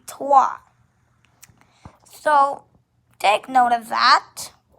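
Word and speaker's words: trois: is a duh and three is twa as you can guys can see as i told you also um it's spelled t-r-o-i-s you you might think it's supposed to be troyes but it's actually tua so take note of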